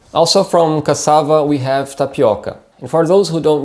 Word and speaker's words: tapioca: the pronunciation here is tapioca tapioca here we have this o sound which is a bit more open making this o sound tapioca another typical food from